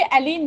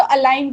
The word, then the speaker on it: allein: Okay, अलीन नहीं, वो जो ई आई है ना तो अलाइन प्रोनाउंस करते हैं.